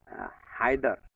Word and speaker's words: হায়দার: তো উনি ওই বাড়িতে যে বড় ছিল, চার ভাই তারা, তার বড় ভাইয়ের নাম ছিল হায়দার। তা আমরা গ্রামের মানুষ হায়দারকে হয়দর উচ্চারণ করি।